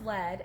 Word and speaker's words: Led: And then they took the A out of lead so that everybody would know how to pronounce lead, and they Okay.